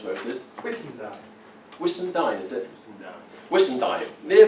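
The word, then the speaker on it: Whissendine: How do you pronounce where it is? Whistendine.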